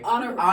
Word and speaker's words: Honorè: so how do we so it's honor honor Agave so it Rhymes so it's not Italian it's not Spanish it is definitely French yeah it's French yeah